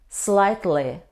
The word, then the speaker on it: slightly: If it comes in the middle of the word, we don't pronounce this combination. For example, maide, nade, slightly.